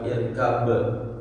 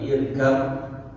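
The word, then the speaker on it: اركب: Bukan irkab tapi irkam. Irkam maana sudah dikasih simbol dengan adanya tasydid ya.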